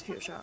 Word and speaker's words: Fuchsia: Oh, isn't that Fuchsia? Is that how you pronounce it? Yeah, it's Fuchsia.